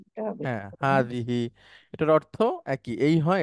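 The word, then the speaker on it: هذه: আপনি উচ্চারণ করেন হাজি হাজিহি এটা হবে হ্যাঁ হাজিহি এটার অর্থ একই এই হয় এটা হয় হাজিহি হ্যাঁ হাতে টান আছে হিতেও টান আছে হাজিহি দ্বিবচন হচ্ছে ম্যাডাম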